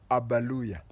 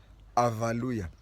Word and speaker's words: Abaluya: Just like Luyas, you find that Luyas, they call themselves Abaluya, ABA, but you find others calling themselves Avaluya, AVA. Now, one time somebody will come out and say the Luya pronunciation, Abaluya, is more towards V than B.